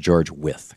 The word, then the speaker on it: Wythe: As Jefferson wrote in a letter to George Wythe, his mentor in 1786, I think by far Actually, it's pronounced George With, excuse me.